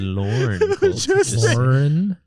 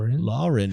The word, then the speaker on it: Lorne: say my name cult my name is lorne lorne lorne you're putting a u in there and i don't think it's necessary lauren is my sister say it again